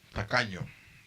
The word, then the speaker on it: tacaño: The tacaños is a Spanish word for cheap as hell, tacaño. Tacaño. Well, the way you say ño at the end is like you smell shit.